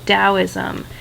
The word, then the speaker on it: Daoism: another section for dosm yes I am saying dosm sometimes you spell this see this spelled with a d and sometimes with a t it is the same philosophy it's just a different spelling because Chinese is a